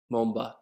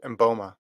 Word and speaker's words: Mboma: happened today dude christine mumba i said her name wrong christine boma boma how do i say last name yeah i think it's mboma and bulma dude this